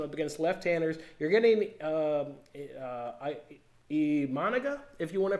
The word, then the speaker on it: Imanaga: You're getting Imanaga, if you want to pronounce him correctly.